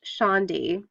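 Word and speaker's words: candi: the temple or condé and Javanese sorry I pronounced Chandi it spelled CA MDI but it's pronounced like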